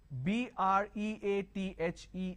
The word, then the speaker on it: breathe: breathe so h b-r-e-a-t-h-e is breathe b r e a t h is breath breathe is a